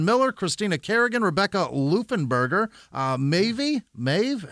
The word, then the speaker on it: Maeve: Christina Kerrigan, Rebecca Lufenberger, Maeve, how do you say that? M-A-E-V-E? Is that Maeve? Did we settle on that yet as Americans? Because that's I think we're going to Maeve. Let's go Maeve.